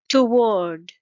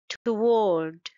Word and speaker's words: toward: the first syllable vowel toward it's two syllable word and stress is on the second syllable toward War it's one syllable